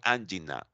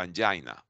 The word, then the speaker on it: angina: The chest pain is called angina or angina, the way that you want to pronounce that.